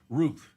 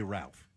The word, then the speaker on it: Routh: I know it's spelled like Routh, but he says Ruth. Everybody else is saying Ruth. And then you, who apparently have heard everybody all morning, you say Ralph.